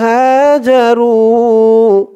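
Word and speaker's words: هَاجَرُوا: হা একালিফ টান, জবরের পরে খালি আলিফ। যা রু রু একালিফ টান হবে, পেশের পরে ওয়াও সাকিন।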